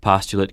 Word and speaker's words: postulate: What's more, postulate can be used as a verb, too, only it's pronounced postulate.